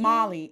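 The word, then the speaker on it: Mali: Molly.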